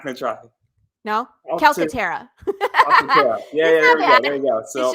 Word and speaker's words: Calcaterra: You could say it like you're Italian with your hands like Calcaterra, and that's okay too. I just don't. But Calcaterra, yeah.